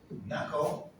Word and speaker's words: knuckle: the k b yes there are a lot of english words that start with a k but we don't pronounce them nine what else do you think knuckle what is the knuckle